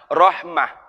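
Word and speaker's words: رحمة: berasal dari kata Rohimah Sebenarnya bukan Rahmat itu bahasa Indonesia Kalau bahasa Arabnya Rohmah cuman kita sudah terbiasa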